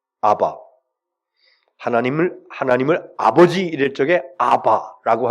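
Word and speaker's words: אבא: 아버지, 구약 성경에 기록되어진 히브리어나 또 신약 성경 시대에 있었던 헬라어, 글자는 다릅니다만 그러나 발음은 똑같아요. 아바.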